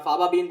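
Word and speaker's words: faba bean: मैं फाबाबीन बोलता हूँ, यू can also call it फेबाबीन। काफी लोग अलग अलग प्रकार से इसको प्रोनाउंस करते हैं।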